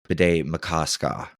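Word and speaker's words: Bde Maka Ska: Oh, and if you're wondering, the lake, Bidé-Makaska, which took me, the correct pronunciation is, Bidé-Makaska. Pardon me. It's spelled BDE space MAKA space SKA.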